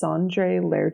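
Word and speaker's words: Sondre Lerche: all by this artist I don't know how to pronounce it but it's sandre lar or sandre L he is performing at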